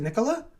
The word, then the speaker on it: Nicola: Oh, is it Nicola? I mean, that's usually how the name is pronounced in Italian.